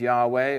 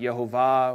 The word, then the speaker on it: Yahweh: His name is Yahweh, or pronounced, and people have different views on how to pronounce it, Yehovah, or there's other ideas too. But yeah, there's a name, and we could spell it. We're just not exactly sure how to say it, right?